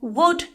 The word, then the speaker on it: would: This goes the same for would and could. They all have a silent L.